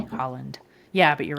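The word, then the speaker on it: Haaland: by Joe Biden yeah that's spelled h a a l a n d right it doesn't sound exactly like it's I mean right I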